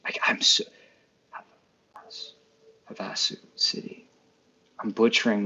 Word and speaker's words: Havasu: Um, Stephanie says we have a beautiful Christmas village here in Lake Havasa, Havosu. I'm so Havasu City.